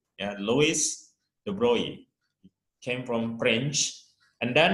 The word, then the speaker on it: Louis de Broglie: named lois the broly although it is written the broccoli but actually uh how to pronounce his name is lois the brownie and louis de broglie came from fringe and